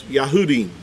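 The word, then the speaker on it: יהודים: it's a group of Jews they would be pronounced as yahudim yah houdin is how you would you would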